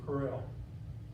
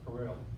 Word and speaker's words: Kroell: To pronounce it properly, you purse your lips and say Kroell.